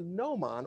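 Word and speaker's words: gnomon: out is called a noman it begins with the letter g so it's a little tricky it's g is silent but it's a no mon or shadow caster and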